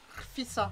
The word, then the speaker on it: rfissa: Rfissa, on n'oublie pas de rouler le R.